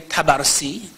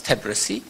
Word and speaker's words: Tabrisi: Of course, usually we say Tabarsi as a wrong mashhadi sort of pronunciation, but it's Tabrisi.